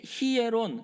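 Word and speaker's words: ἱερόν: 근데 성전이 예 히에론 강순가 붙어서 이오타의 강등표가 붙어서 히에론이라고 읽죠.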